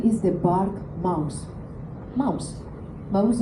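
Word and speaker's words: Maus: The name is the bark mouse. Mouse it's the same the pronunciation is the same as in English. That's Mickey Mouse.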